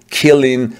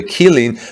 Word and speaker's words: Qilin: what we are saying is that caddo's new killing cell to pack battery by the way it's spelled q q-i-l-i-n this new killing cell to